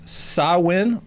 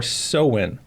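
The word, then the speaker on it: Samhain: all right it is it is pronounced saw win or so win so when you spelled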